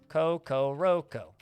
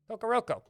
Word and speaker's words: Kokoroko: And this dwarf goes to Kokoroko. Kokoroko. Rhymes with Loco Roco.